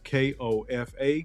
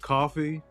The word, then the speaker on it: Kofa: K-O-F-A. Kofa rhymes with sofa. Not coffee, not kufu, not Kofi, or any variation thereof.